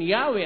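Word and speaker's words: Yahweh: O inclining to view the pronunciation Yahwe as the more correct way, we have retained the form Jehovah.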